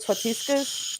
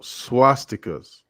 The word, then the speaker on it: swastikas: I'm gonna call it swatiskas. No, Swatiskas. no, swastikas.